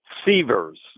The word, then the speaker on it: Sievers: Seavers. Seavers, okay.